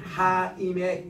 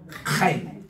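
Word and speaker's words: חיים: 우리 따라합시다 하인 하인 하인을 조금 더 그러면은이 하 임의 키역 발음을 약간 섞이면 이게 정확한 발음이에요 따라합시다 카인 카카인 왜냐면이 케이라는이 단어가 키어시 스킨 히어 바람이든 그러니까 카인 이렇게 되는데 여러분이 목젖에가 나오는 소리입니다 카임 그 아랍 사람 저 유대인들 만나면은이 카이란이 발음을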